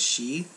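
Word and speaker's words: 四: from over there because in japanese the number four can be pronounced as she which also means death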